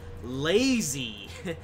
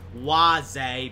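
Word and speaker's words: Łazy: road uh I'm going to a station called lazy as I like to call it okay it's actually pronounced Waze but lazy sounds funnier no disrespect to the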